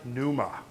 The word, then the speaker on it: Pneuma: The Holy Ghost, Toahian Pneuma. Pneuma, like root of our words like pneumatic, means the Holy Ghost or the Holy Spirit.